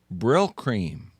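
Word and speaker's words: Brylcreem: give you a hint it rhymes with dill dream anybody anybody brill cream yep hair care product right brill cream well done diane yeah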